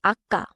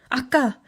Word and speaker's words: 아까: In 아까, the second syllable is 가, a tense sound, not soft, 가. Say 아까. 아까.